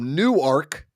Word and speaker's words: Newark: what is it called it's called new ark but it's spelled like Newark Newark oh that's like